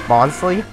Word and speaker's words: Bonsly: dun dun dun dun a bug's life or bonds leave whatever you want - I think it's pronounced actual pronunciation is bonsly here I'm gonna or we I